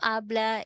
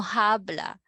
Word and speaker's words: habla: your example sentence your hermano is brother no habla is not speak do not talk mucho much